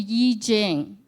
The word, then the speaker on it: I Ching: us a gift and it's called the Y Jing some of you may be familiar with I Ching so it's spelled I